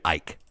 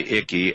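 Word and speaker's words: Icke: they called me um Ike um they called you Ike yeah I mean that you don't pronounce the C actually funny enough I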